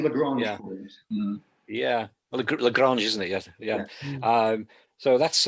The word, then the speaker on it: Lagrange: The Langrennen points. Is that how we pronounce it? The L1, L2. So it's L2. It's parking. The second Lagrange Yeah. point. Yeah. Well, Lagrange, isn't it?